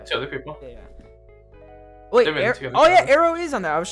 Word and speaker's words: Aero: I think Arrow's on there. Ariel. No, Arrow. AERO. And then Newers now. Two other people. Yeah. Wait, Arrow is on there.